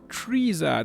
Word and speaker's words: Frieza: way it is it's freezer oh it is freezer thank you so much for the correction in